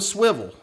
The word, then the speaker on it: Swyvel: Now, this light is called the Swivel, and for a good reason. And you can see how that swivel is spelled S-W-Y-V-E-L.